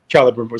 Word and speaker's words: Celebrimbor: Celebrimbor. C's like that are a hard C. Okay, like Celtic. Okay. Right. Like Celtic.